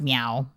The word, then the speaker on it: MEOVV: their name is pronounced meow because it's like me e o VV but the VV is like a w yeah very interested this